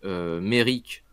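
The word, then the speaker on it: Maryk: Elle va représenter la marine qui attaque Merrick. Maric ou Merrick, je sais déjà plus. Je crois que ça se dit Merrick en anglais, mais ça s'écrit Maric, donc je peux dire les deux.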